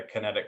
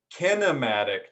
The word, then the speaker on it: kinematic: compensation patterns find the kinetic chain kinematic chain with the extra syllable there kinematic is about whether